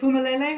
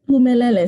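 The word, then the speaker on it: Phumelele: Okay, so is it Fumalele? Are we pronouncing it correctly? Pumelele, silent H.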